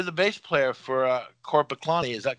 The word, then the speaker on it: Korpiklaani: it yorko you're the bass player for uh court paklani is that correct yes yes and have i pronounced your name correctly is it corporate yes yes and your name is yarko altonin